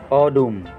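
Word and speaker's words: 어둠: Ang ibig sabihin po nito ay yung O, na ang bigkas po ng O pag ay yung O na smooth sound. O. O. Na kasing tunog ng word na audit.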